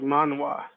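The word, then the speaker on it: manhwa: by all Eastern standards it's it's pronounced differently like Manoa it yes it is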